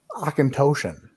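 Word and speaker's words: Auchentoshan: you can't just be like oh it's friggin akintoshian or whatever shayla dude you forgot you pronounce that like perfectly good job nailed it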